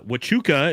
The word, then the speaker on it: Huachuca: Uh Wachuca is the name of the fort pronounced love the job.